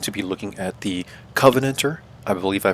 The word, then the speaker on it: Covenanter: Today we're going to be looking at the Covenanter. I believe I pronounced this vehicle correctly this time, like Covenant and then add ER, right?